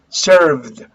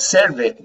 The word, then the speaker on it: served: pronounce correctly in english served served okay not serve it no no not serve